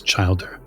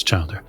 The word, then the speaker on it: childer: so Casper is my Cher and uh it's Childer oh what am I is that how you pronounce it yes Childer oh okay well Childer is